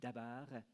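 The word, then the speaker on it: דָּבָר: vraie parole, en hébreu, le verbe se dit « dabar », Dalet Betresh, trois lettres consonnes qui écrivent le nom, mais si on le prononce autrement, si on le prononce Deber, ça donne la peste destructrice.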